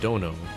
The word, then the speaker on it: dono: So dono, pronounced dono, when attached to a name, roughly means lord or master.